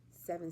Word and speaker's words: Sevhn: seven steps to reset seven steps but it's spelled like my name and it's s e v h n oh h n I